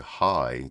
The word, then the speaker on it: Heye: his name is Doug High the one who brought up Cheech and Chong uh his name is Doug High I'm not making that up it's spelled h-e-y-e but that is his